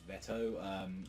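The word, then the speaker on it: Vetto: Like, we had Vito, or as they've been kind of calling him as well, I think it's, like, how they're actually supposed to pronounce it is, like, Veto, or Vet.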